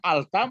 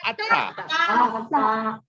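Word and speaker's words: الت: Memang alta baca atau atta? Atta opung atta. Kan berarti lengket dia ya? Ya. Lengket dia. Berarti nanti hurufnya huruf Matahari. Ya, huruf namanya samsiah. Huruf samsiah. Huruf samsiah. Alhamdulillah. Huruf samsiah ya. Samsiah. Samsiah namanya. Huruf matahari. Ya, huruf matahari. Jadi atta. Ya, contohnya misalnya pedagang.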